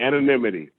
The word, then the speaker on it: anonymity: allows a lot of anonymity. Is that how you say it? Anonymous? I don't even know what the word is. Don't laugh at me. I learned good. That's okay. Anonymity. And yeah, there you go.